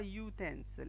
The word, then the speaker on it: utensil: There are also exceptions when the vowel sound U sounds like U. Example, a university or a utensil, instead of saying an university or an utensil.